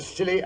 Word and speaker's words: Scilly: Well, tonight I thought I'd relate how Holmes and I spent New Year's Eve off the Scilly Isles.